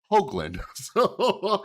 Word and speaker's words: Hoogland: past I realized his last name was pronounced Hoagland so public apology for